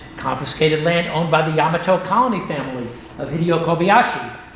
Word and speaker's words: Yamato: By the way, it's pronounced Yamato, not Yamato.